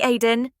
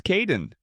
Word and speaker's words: Kaeden: Hi, Aiden. It's Caden.